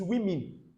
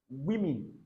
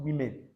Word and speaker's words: women: It is women, women, not women, all right?